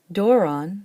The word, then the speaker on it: δῶρον: Doron, the word for gift, likes to have a circumflex over the second to last syllable, over that long omega, and it can because it has a short omicron in the last syllable.